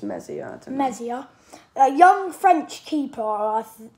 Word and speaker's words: Meslier: I reckon Ian Mercer, I think that's how you pronounce his name. I think it's Mezier.